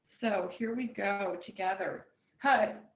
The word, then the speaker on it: Har: We're going to chant the mantra, Had Hare. So H-A-R, Had, and we'll take the tip of our tongue, press it against the roof of our mouth, and then Hare.